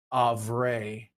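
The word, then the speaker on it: Avrae: It is not Avrai or Avrai or anything else. It is DDB Avray is what we've landed on because the community has spoken as to how you've pronounced that for all these years.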